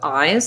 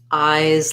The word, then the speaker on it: eyes: okay so first let's start with eyes that's stressed here and it's going to have the i diphthong and the z sound so um i would say thinking about it like eyes like in prize or size might help you um and then um